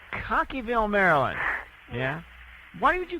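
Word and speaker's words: Cockeysville: Maryland it's how do you how do you pronounce it cockyville cockyville Maryland yeah why would you call in I've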